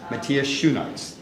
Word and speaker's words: Matthias Schoenaerts: It is my pleasure to introduce you to, although you may have seen him in many previous films, Matthias Schoenaerts. That's perfect. Did I pronounce it close enough?